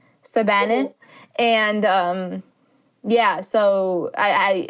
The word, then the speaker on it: Savanah: would say my name because there's no V in the Arabic language so she would say my name like sabana Savannah and um yeah so